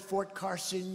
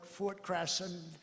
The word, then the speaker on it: Fort Carson: place like this, and instead of calling it Fort Carson, you call it Fort Crasson.